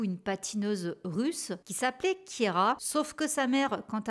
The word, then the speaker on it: Keira: Keira à l'état civil, elle a inversé le E et le I. Donc voilà, ça s'écrit Keira, mais on prononce Keira, pour la petite anecdote.